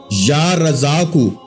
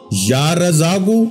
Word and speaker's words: یا رزاق: پاک ہے یا رزاقو، یا رزاقو۔ اب تلفظ بھی میں بالکل آپ کو واضح کر رہا ہوں، جتنے اسم اکرام ہیں ہر اسم کے آخر میں جو ہے وہ پیش پڑی جائے گی، ٹھیک ہے۔ یا رزاقو،